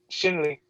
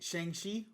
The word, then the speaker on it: Shang-Chi: And then like and then we're getting Shen Li, or Shin Li. My bad, Shin Li. Shang Chi.